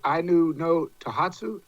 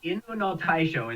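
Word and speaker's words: 犬の大将: Is it Ainu no Tohatsu? Tohatsu? yeah, you butchered it all right. I butchered it, man. I'm a country boy anyway. But I looked at that looked like it took a lot of work. Yeah, Inu no Taisho is how it's pronounced.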